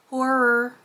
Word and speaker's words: horror: And if you're wondering why I say horror that way, it's because with my particular accent, I have been told that apparently I cannot pronounce that word correctly. I tend to squish it into one syllable when it should be two, so it ends up sounding a little different.